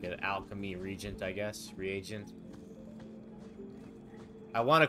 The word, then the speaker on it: reagent: Alchemy Regent I guess reagent I want to call it Regent I want to pronounce it Regent but I think it's re agent might as